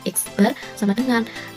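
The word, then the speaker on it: x̄: banyaknya data mean itu dilambangkan dengan x bar ini bacanya X bar = X1 + x2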